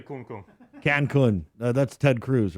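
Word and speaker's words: Cancún: As long as you don't say kun kun. Kung, yeah. Don't say Jay. Don't say Cancun. Don't say kun kun. Cancun. That's Ted Cruz, right? Yeah. I went to Cancun.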